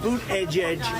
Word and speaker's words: Buttigieg: it's a shame and boot Edge Edge should have been here already that's how you say it but he said it's